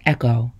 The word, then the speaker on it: EKOW: get what they need e-k-o-w is pronounced echo and means boy born